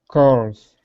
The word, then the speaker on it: curls: Curls. Good. Now that L is pronounced O. Okay, so it's actually two. You can think of it as two vowel sounds. Curls.